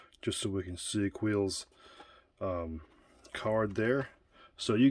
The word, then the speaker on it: Kuiil: be asking why is coal bent like that well or quill i should say his name is quill excuse me why is